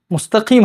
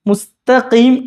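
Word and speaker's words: مستقيم: ഇന്നത്തെ ക്ലാസ്സിൽ പറയുന്ന ഈ മുസ്തക്കീം എന്ന വാചകത്തിൽ ചില ആളുകൾ എന്ത് ചെയ്യും മുസ്തക്കീം എന്ന് പറയേണ്ടിടുത്ത് മുസ്ത പറയും മുസ്തീ കാരണം അതിനുശേഷമുള്ളത് കാഫ് കാഫ് വലിയ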